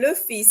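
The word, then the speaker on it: fils: I did mention earlier in this case here we do pronounce the S so this is one of the exceptions to the rule we say Luffy's so we ignore the second to last letter but we do pronounce the last letter we we just set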